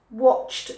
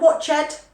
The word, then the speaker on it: watched: pronunciation so important played watch watched watched not watch it watched ask asked asked carrie